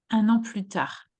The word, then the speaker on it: plus: Un an plus tard. You don't pronounce the S here.